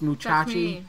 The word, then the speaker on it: Musashi: you know about the legend of brave fencer moussa it's pronounced muchachi actually a little bit well man it's said